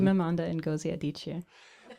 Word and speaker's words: Chimamanda Ngozi Adichie: So we have Tessa Hadley, Ruth Parajavala, and then we have the person, wonderful writer, whose name that you will pronounce for me. Chimamanda Ngozi Adichie.